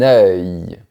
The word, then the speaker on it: œil: Et ça, c'est un œil. C'est le même son que pour le mot cœur, mais à la fin, tu fais un léger son de I, très rapide. Un œil.